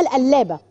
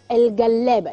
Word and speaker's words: القلابة: طيب البصاره الافغاني عندهم ما اسمهاش بصاره، اسمها القلابه، الجلابه، لا بالقاف، هي بالقاف بس بتتنطق جيم، القلابه، القلابه الافغاني، القلابه الافغاني، حاجه كده شبيهه بالبصاره المصري اللي عندنا بس ما بيحطولهاش خضره.